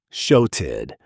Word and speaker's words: shouted: Pronunciation, shouted. Again, notice that flap T, softening the double consonant sound. It's not a hard TED, it's soft and quick.